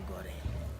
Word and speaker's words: Gorée: So they finally decided to modify the English pronunciation, which went from Good Rede to Gorée.